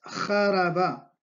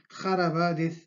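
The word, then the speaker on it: خرب: Y luego la tercera palabra es jaraba, jaraba, jaraba, que es jaraba, destruir, destrozar, jaraba, jaraba. Entonces la letra que escucha es ja, ja, ja, jaraba, jaraba.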